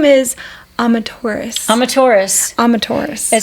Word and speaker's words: Amaterasu: But if you say Amaterasu really fast, that's how you say it. Amaterasu. And so the U at the end of it is silent, so that will throw you off if you see it.